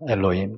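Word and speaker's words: אלהים: 합니다 엘로 엘로 하나을 히브리어로 라 그래요 아 엘로힘 진규 잘 적고 있지 야 열심히 적고 있네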